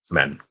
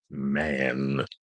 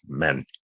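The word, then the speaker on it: من: So don't pronounce it like an English word man which has a long a. The Arabic word man has a shorter vowel sound.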